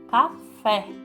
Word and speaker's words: café: palavra Vamos a primeira café nós nós intensificamos a fala no k ou no fé pronunciamos no fé café Chácara Qual que é